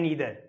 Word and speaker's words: neither: Short session के अंदर हम क्या डिस्कस करेंगे कि जो आइदर नाइदर हैं, ओके, इनको वी कैन से द pronunciation of this ईदर एंड नीदर, आइदर एंड नाइदर both are same, so don't be confuse.